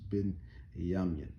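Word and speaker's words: בנימין: tribe of benjamin and the ancient paleo hebrew that would be pronounced bin yam so here you have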